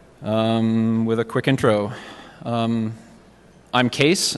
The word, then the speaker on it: Kees: a quick intro I'm case it's pronounced case the spelling is Dutch and it's my grandfather's